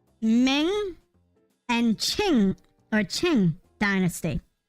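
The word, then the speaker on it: Qing: Shin y Ming and Ching or ching King Dynasty or Shing yeah Shing Dynasty Shing sh because uh because Q is more she or she kind of a kind of a pronunciation bits and pieces um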